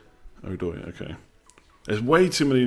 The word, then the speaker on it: Odoi: Is it Hudson Odoi? Odoi.